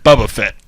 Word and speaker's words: Boba Fett: mention Boba Fett in it's pronounced Bubba Fett b u bbbb BBB a Bubba Fett bu of these oh my God